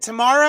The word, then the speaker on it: Tamara: own room hi tamara is it tomorrow or tamera laura galileo yes tomorrow tomorrow you have heard many